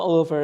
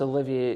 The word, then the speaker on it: Olivier: It's not Oliver. It's Olivier. It's got a wee I after the V, which a lot of people miss.